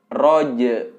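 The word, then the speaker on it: الرجع: Nah, jadi yang pertama adalah roj. Nah, itu qalqalah roj, tapi disambungkan dengan huruf ain yang mati, yang sukun. Jadi roj, roj. Nah, seperti itu pelafalannya.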